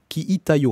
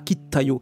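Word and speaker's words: 聞いたよ: Ki ita yo, hein, pas ki ta yo, ki ita yo. Faut bien, bien prononcer ça.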